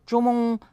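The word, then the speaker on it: 钟: Ils sont du même son, zhong, Z-H-O-N-G, et du même ton, premier ton.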